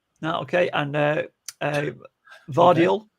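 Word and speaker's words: Gvardiol: okay and uh uh vardial vadio is that you say with the silent G this is I think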